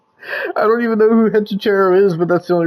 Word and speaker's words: Hechicero: Hechicero, that's how you say it.